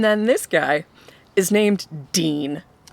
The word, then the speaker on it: Deen: And then this guy is named Dean. Now it's spelled D-E-E-N, but still his name is Dean.